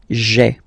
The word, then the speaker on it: j'ai: Okay, so just to avoid pronouncing this je ai, because we think that in French it doesn't sound that beautiful, so we tend to take this away, okay, so that you get this sound j'ai, j'ai. Okay, so j apostrophe ai. Remember, when you combine this ai, you get the e sound.